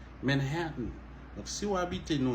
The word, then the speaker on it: Manhattan: en monde c'est Manathan Manathan dit la vraie prononciation c'est Manhattan Manhattan donc si vous habitez New York toujours t